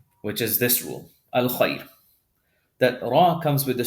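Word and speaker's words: خير: The third letter before has a fatha, but because of the ya sukoon, we pronounce this heavy. This is khair. I'm sorry, not heavy, light. Tarqiq, not tafkhim, tarqiq. Khair, this ra is going to be pronounced light.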